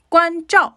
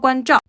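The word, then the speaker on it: 关照: 표현을 쓰게 되는 거예요 관점 발음하실 때 저 건설음이니까요 혀끝을 입천장으로 세워서 발음하시는 것 잊지 말아주세요 잘 부탁드립니다 칭또와도어 관점 자 상황적인 예를 좀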